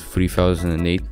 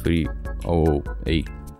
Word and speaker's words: 3008: Yes, I am aware that you told me that I pronounced 3008 incorrectly in the last time. Yes, it's 3008, not 308.